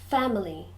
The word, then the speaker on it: family: praise praise good six family members the first word family has three syllables but usually when we're speaking we just say to family family family members good seven acquaintances